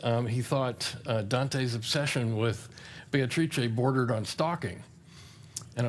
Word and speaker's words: Beatrice: And I'm going to insist on Beatrice, because the rhythm of the lines doesn't scan properly unless you give it the full 4 syllables.